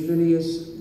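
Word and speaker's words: Phinehas: This week's Torah portion is pronounced in Hebrew Pinas in English vineas.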